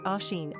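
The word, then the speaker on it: Oisín: atmology and historical origin of the baby name oen oen is a name enormously popular in Ireland and Northern Ireland though virtually unknown to Americans for the record it's pronounced Asen and means little deer from the gaic OS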